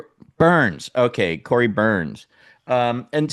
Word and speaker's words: Byrne: Burns. Burns. Burns.